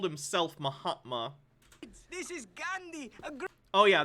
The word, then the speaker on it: Mahatma: It's pronounced Mahatma, but I get the joke.